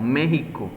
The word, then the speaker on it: México: De hecho, de ahí viene el nombre de mexicano o México, y por eso se escribe con X, ¿sí? Aunque se pronuncie con J, porque es una tradición propiamente de ellos.